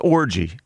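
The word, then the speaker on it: Orji: But his name is pronounced Orgy.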